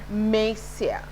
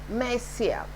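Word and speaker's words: Monsieur: is not o n is not to be pronounced and it is mesia mesia and m m e is from madam extra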